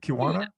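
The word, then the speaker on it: Keweenaw: Kristin Arola, who grew up in the Kiwana Peninsula. You can tell I'm not from Michigan, sorry. How do you say that? Kiwana?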